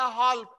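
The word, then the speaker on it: half: जैसे आपको दिया गया हाफ H F हाफ बोलते हैं, L को साइलेंट रखा जाता है.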